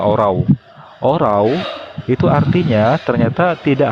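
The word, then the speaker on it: ὁράω: Kata melihat di sini dengan strong numbernya 3708 dalam bahasa Yunani menggunakan kata horau. Bacanya orau.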